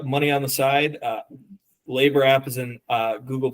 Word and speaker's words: LABR: a lot of labers and how do you pronounce that so labor l a r perfect awesome well thanks again